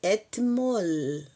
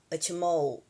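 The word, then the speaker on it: אתמול: Por favor, não use o o Tav com dental, articulação dental que nós usamos etmol, pelo menos na minha região, é et. Nós usamos dental etmol falaríamos assim o etmol, etmol. Atmol, não, atmol, porque o L a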